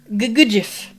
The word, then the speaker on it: Gugujif: So you have to put, like, a little emphasis, on the second syllable. Like you're tripping over a crack in the pavement, is how I tell people to pronounce it.